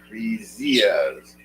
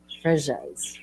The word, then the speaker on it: Freesias: Freesias. Free. Not. It's you don't pronounce the Z. It's like a J. Oh. Fresias.